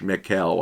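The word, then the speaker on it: Michel: was a french priest michael by the way is spelled m-i-c-h-e-l in the french mikhail i guess would be a proper pronunciation and i spent four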